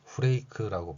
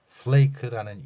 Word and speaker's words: flake: 보통은 아침에 시리얼 형태로 먹는 후레이크라고 발음하는 이 단어입니다. 플레이크라는 이 단어는 우리말에 없는 F소리가 들어있습니다. 또한 L도 발음으로 존재하고 있고요.